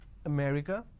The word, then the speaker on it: America: and all that now the correct pronunciation is if I have to break it down to syllables a May re so there are four syllables now in northern part of the country they pronounce this as um so they drop a syllable instead of saying America they say I'm going to America for example the word